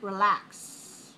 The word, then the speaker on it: relax: And when we look at the pronunciation, where is the stress? Second syllable. Relax. Notice we don't say re, we say relax.